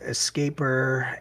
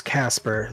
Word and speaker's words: Casper: and now i get escaper and e casper all the time so now i've kind of just gone to the point of telling everybody that um it's casper the es is silent it just makes it